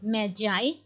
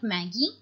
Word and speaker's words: Magi: Yes, the pronunciation is Magi and not Maggie.